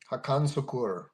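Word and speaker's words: Hakan Sukur: Hakan Sakur.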